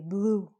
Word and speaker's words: blue: If we have an E at the end of the word, we don't say it. So we don't say bluey. We just say blue. So in this, how many syllables are there? How many vowel sounds? 2? 1. So we just say blue. The E is silent.